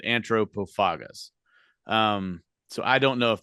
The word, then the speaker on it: Antropophagus: a TH in it, I say antro because English is the only language where TH makes a th sound. Everywhere else it makes a t sound. Yes. So that's why I pronounce it Antropophagus.